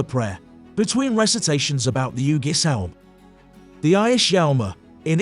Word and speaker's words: Ægishjálmur: However, the meaning and context suggest it would probably have been pronounced more like Ǿgishjálm originally.